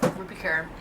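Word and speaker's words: Rupi Kaur: Yes, Ruby Kerr.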